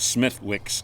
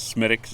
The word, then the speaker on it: Smithwick's: So Smithwick's is people, us from America, we go over there and we call it Smithwick's, is the way it's spelled, but it's Smithwick's is the way it's pronounced.